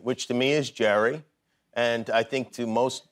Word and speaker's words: Gerry: very simple question sure how do you pronounce this name Jerry Jerry yeah not Gary Jerry Jerry Jerry Jerry